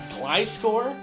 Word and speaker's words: Gliscor: Gliscor? That's so weird. You're right, it definitely sounds off, but considering Gliscor's name is a portmanteau of glide and scorpion, it makes sense.